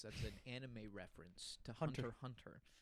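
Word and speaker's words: Hunter × Hunter: I'm like it's actually just Hunter Hunter. I used to say Hunter X Hunter.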